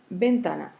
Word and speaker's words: ventana: Face à un mot comme ventana, on l'écoute, on voit que c'est un mot qui porte l'accent tonique sur la deuxième syllabe, c'est-à-dire l'avant-dernière syllabe, ta.